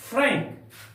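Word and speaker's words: frank: clear प्यारे बच्चों देखिएगा कभी कभी ए किसी शब्द के बीच में होता है तो उसका उच्चा उच्चारण अनुस्वार की तरह होता है जैसे फ्रैंक एफ आर ए एन के फ्रैंक फ्रेंक फ्रेंक का अर्थ होता है साफ दूसरा उदाहरण ते हैं think T एच आई एन के थिंक यहां पर एन का प्रयोग अनुस्वार के तरह हुआ है इसलिए इसका उच्चारण होगा थिंक थिंक का अर्थ होता है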